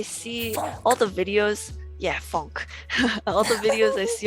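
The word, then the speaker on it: phonk: i've been getting into a funk which is spelled like p-h-o-n-k it's like a it's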